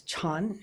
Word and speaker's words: Chan: pronounced in Korean as Chan is the way Zen is pronounced in China and so on um